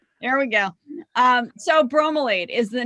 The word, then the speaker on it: bromelain: to get mad at me because i can't pronounce it brom laid oh bromelain you are totally okay dude you're telling me